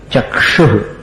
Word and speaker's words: चक्षुः: चक्षुः इसका उच्चारण संभाल के करना, चक्षुः।